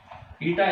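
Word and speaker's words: η: ईटा, ये सिंबल है भाई, ईटा, ईटा बोलते हैं इसे। ईटा इसकी प्रोनाउंसिएशन है ETA, लेकिन N की तरह ही लिखा जाता है।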